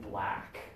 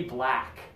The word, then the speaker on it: black: black shirt today okay and in British English this and this sound much more similar okay I sat at the block table okay but we don't really say it that way in English this is more of an American English sound like Saturday and laughs in half and black okay so one more